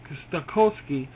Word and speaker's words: Stokowski: Stokowski. That's how you say it.